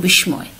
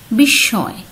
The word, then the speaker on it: বিস্ময়: যেমন বিস্ময়, এই শব্দটি অনেকেই ভুল উচ্চারণ করো, অনেকেই বলে থাকো বিস্ময়, আসলে উচ্চারণ হবে বিস্ময়।